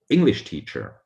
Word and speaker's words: English teacher: also one word and you can hear it from the stress it's english teacher the stress is only on english it's not english teacher or english teacher so one word one stress a bit more difficult